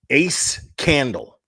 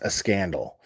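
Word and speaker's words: AceCandle: uh a scandal and it's it's spelled uh ace candle ace candle but it's pronounced a scandal uh and hopefully uh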